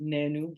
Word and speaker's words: Naanu: this is the original nanu actually the name is pronounced nenu but for easy marketing I just decided to call it Nano because I don't think